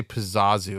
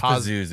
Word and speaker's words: Pazuzu: I know we say Pazazu a lot, but it's spelled Oh, like it is Pazuzu.